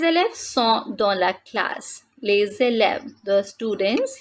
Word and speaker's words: les élèves: Les élèves, the students, here we are doing liaison, les élèves. We are not saying les élèves, but the pronunciation is les élèves.